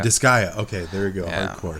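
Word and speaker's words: Disgaea: uh I'm gonna mispronounce it I'm going to mispronounce it um disaya five complete disa desia disa I I can't see it is it desia it's d i s g a e a dis I think it's disaya disaya okay there go go hardore thank you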